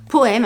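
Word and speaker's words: Po&me: là de la marque poemme alors ça s'écrit comme ça po esperluette ça s'appelle une esperluette cette chose là donc po esperluette me c'est la marque poemme ils ont plusieurs formes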